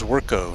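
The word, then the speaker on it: Zwirko: your name my name my last name is zwerko and it's spelled z-w-i-r-k-o and people look at that and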